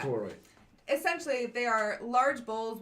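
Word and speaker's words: Khalkotauroi: And during that story, Jason has to face two, I'm going to mispronounce this, Calcotoro? Can I read it? Yeah. Where is it? That would be Kulkatorai. Something like that. Kulkatorai.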